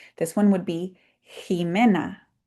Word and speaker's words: Jimena: This one would be Jimena. And you heard it with the h sound.